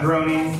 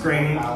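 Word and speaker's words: Groening: Trump presidency because obviously Matt grainy uh that's how you say his name it's not groaning it's grainy Matt grainy he's the time Trav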